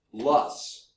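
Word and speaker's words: loess: wind blown deposits is strange looking word is pronounced lus l u SS is how it's pronounced but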